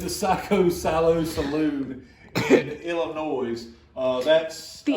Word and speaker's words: Illinois: psycho Salo Saloon in Illinois uh that's the S is silent somewhere huh the s in Illinois is silent what are you talking